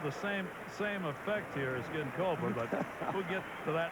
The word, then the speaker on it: Ginkoba: How's that pronounced? Ginkoba.